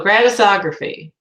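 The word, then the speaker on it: Gratisography: feet Greta stog raphy it's gratis it means it's free so gratis ography and here they just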